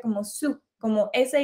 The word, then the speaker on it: Sault: pesar de que se escribe como esto se pronuncia como sub como ese y doble o entonces es su